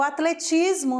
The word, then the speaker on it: atletismo: É o atletismo, né? E como se fala atletismo em espanhol? Atletismo. Se escreve igual à língua portuguesa, porém a pronúncia é diferente.